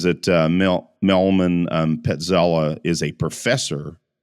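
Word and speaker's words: Petrzela: I think it's Petzela. I think the R is silent there.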